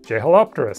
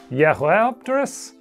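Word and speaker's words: Jeholopterus: way more recently, like Jehelopterus, named in 2002, which I guess should actually be pronounced Yehelopterus?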